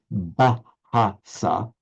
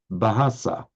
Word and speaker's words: Bahasa: It made it into two syllables, ba-ha. No, it's not like that in Sanskrit and Hindi, just ba, ba.